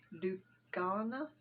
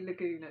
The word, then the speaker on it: Lugana: The Lugana, I say Laguna, guys, I know I'm wrong. I try to explain to somebody why I say Lugana, Laguna instead of Lugana.